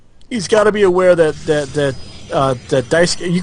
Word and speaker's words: Daisuke: However, I do know that Major League player Daisuke Matsuzaka spells his name that way, and it is pronounced Daisuke, so that's what I'm going with.